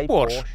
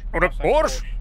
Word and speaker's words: Porsche: Кстати, вопросец, а как ты произносишь Porsche? Porsche? Я тоже Porsche, а некоторые автожурналисты говорят Porsche. Девчачье имя.